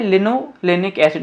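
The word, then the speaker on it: linolenic acid: तो क्या है? लिनो लिनिक एसिड। इस तरह इसको प्रोनाउंस करना। लिनो को अलग कर देना।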